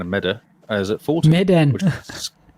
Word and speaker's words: Medan: Medan. There's an N at the end of that. Medan. I don't know how to say it. It doesn't feel like it's Maiden. Madden? Not Madden. Medan.